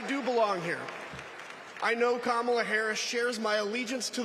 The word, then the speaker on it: Kamala: do you pronounce it first you say comma like a common sentence then he say la